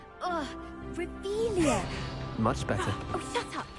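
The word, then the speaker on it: Revelio: Ugh, Revelia.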